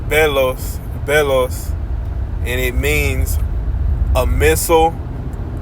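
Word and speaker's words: βέλος: It reads, it's pronounced belos, and it means a missile, dart, javelin, arrow.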